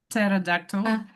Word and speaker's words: pterodactyl: And there was uh don't don't pronounce P. Pterodactyl.